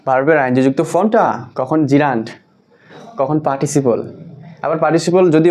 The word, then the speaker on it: gerund: অধিক পরিচিত ওয়ার্ড হচ্ছে জিরান্ড। জেরান্ট না আমরা অনেকে এটাকে উচ্চারণ করি জিরান্ড।